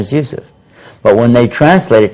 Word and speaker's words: Yusuf: reason I say it's impossible is because we're mispronouncing it from the get-go my name is what youf right my name is Yousef but when they translate it to English they